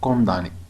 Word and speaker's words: condamné: هاد condamné كتكتب condamné. شفتو كتكتب condamné ولكن كتنطق condamné مكتنطقش ام ولكن في اتونسيون ليكريتور لانه الا غلطت فيها يقدر يحسبها لك صحيح خطا.